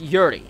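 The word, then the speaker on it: Urie: By the way, if you don't know his if you don't know him, his last name is pronounced Yuri and his band is Panic and the Disco or Panic at the Disco.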